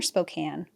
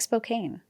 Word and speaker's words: Spokane: Is it Spokane or Spokane? I think it's Spokane. I feel like it is too, but it's spelled like Spokane. I feel like it's a Nevada thing, but I'm almost certain it's Spokane. I'm almost certain it's also Spokane. People will tell us.